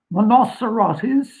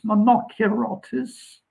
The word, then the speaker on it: Monocerotis: past Gamma Monocerotis, and it's a hard C, by the way, not a soft C. It's not Monocerotis, it's Monocerotis.